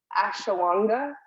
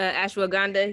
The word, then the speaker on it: ashwagandha: and she gave me i'm not going to say it right ashawanga uh ashwagandha yes the happy habit oh